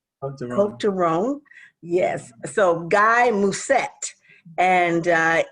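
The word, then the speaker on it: Côtes du Rhône: Cote de Rhone. Get that right. You don't pronounce the S, so it's Cote de Rhone. Cote de Rhone.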